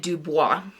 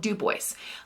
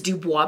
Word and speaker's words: Dubois: stay at an Airbnb on a ranch in Duboce, Wyoming. Now, the audiobook narrator kept calling it Dubois. I live in Wyoming. I know how we say our towns. It is called Duboce.